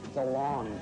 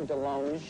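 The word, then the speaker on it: DeLonge: I am Tom Dong, but it should be Del Long cuz I went to France and he said, "You're pronouncing it wrong."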